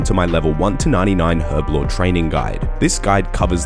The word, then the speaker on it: Herblore: 99 herb law or herb law as it's pronounced in America is a members skill